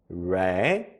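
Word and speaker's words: resolution: 다짐 결단 루션 다시 한번 레전루션 다시 한번 레졸루션 레전루션 결심 결단 다짐 이런 뜻인데요 발음 한번 체크해 보면요 알파벳 re R e는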